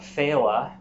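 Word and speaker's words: Fhéile: day la which is a version of phela that's f-h-e-i-l-e in this case the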